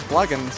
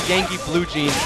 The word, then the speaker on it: YankeeBlugens: about Plugin or something is it plugin blue jeans something it's actually Yankee blue jeans was it really but when the name was announced earlier they mispronounced it so I just stuck with it oh Focus oh miss